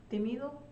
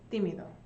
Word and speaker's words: tímido: Shy is tímido. Tímido.